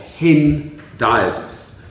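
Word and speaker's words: hendiadys: have stated that this is an example of hin diodus and that is spelled h-e-n-d-i-a-d and it's from the greek one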